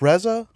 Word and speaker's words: RZA: was watching your podcast with Reza is it pronounced Reza RZA RZA rzaa okay um yeah and I